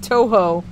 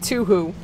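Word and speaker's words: Touhou: this adorable child was saying Toho, but pronouncing it Tuhu. Like Yoo-hoo, the chocolate milk, and it was one of the cutest things I'd ever heard in my life.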